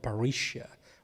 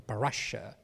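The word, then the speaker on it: parrhesia: In any case, so Fukall talk about a a word that um is ancient, very old one called parishia or parasia. It's pronounced differently depending on where you are.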